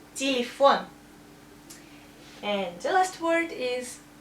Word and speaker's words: телефон: That's two ye, but stress is here, and we say телефон.